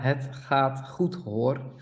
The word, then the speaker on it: het gaat goed hoor: Yat het gat goed hoor. There you go. Ja, het gaat goed hoor. Okay. Yeah, that's a problem with the English speaking people because the G is quite different.